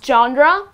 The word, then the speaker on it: genre: So the correct pronunciation is genre, the genre of music means the type of music.